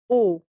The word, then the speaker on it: ओ: first vowel this is o o the pronunciation is very similar to the English uh vowel o and it's o as in omnipotent O O and uh the way to write it is follows.